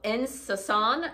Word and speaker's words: En Saison: the name it's called insasan it's it's like a french en and then a new word capital s-a-i-s-o-n um the audrey smock